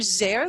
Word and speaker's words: Zare: z not an s the z is for zer that rhymes with care so relationship builders for